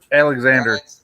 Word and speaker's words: Alexandre: Alexander. It's spelled it's Alexander, but it's spelled Alexandre.